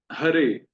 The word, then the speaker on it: हरे: हरे, तो ह रे, रे में एकार है और ए दीर्घ है, इसलिए ए में थोड़ा समय देना है।